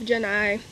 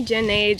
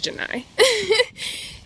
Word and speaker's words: Jenai: the life of Jenai that's how you pronounce my name I know I said at the beginning of every video some people still call me Jen age and I Jen a my name is Jenai I just had to